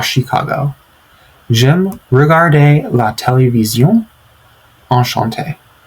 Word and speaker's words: Chicago: Je viens des États-Unis et j'habite à Chicago.